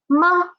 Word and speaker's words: 吗: It is ma, moa, ma, moa, ma. It is a neutral tone. Neutral tone. So we should read it quick and soft, right?